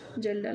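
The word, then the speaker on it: Kjeldahl: होता है कौन सा, जेल्डाल मेथड। यहाँ पे के साइलेंट होता है तो यहाँ पे जेल्डाल्स मेथड दूसरा होता है, ठीक है।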